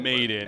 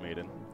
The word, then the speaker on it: Maiden: Maiden, yeah. I keep wanting to say Madden as well for obvious reasons, but yeah, I believe it's Maiden.